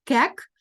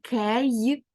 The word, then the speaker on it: cake: таки правило відкритого складу німий голосний не читається але впливає на попередній голосний він називається так як в алфавіті тому ми читаємо не Кек а Кейк Кейк TH ми знаємо читається